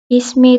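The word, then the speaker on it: اسمي: Itu ditambahkan ya sukun terakhirnya, jadi dibacanya ismi.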